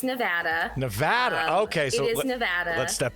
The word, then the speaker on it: Nevada: yes and it does it comes from a spanish word for snow-capped mountains and so if you're pronouncing it the spanish way it would be nevada so that makes sense that's not how we pronounce it so nevada nevada